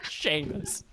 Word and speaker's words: Seamus: spell your name because it's spelled seamus you pronounce that sheamus seamus hopefully yes